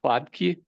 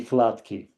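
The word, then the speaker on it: Hladký: The correct pronunciation would be Hladki.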